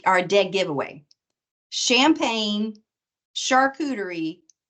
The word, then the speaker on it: charcuterie: Champagne, charcuterie, Chardonnay.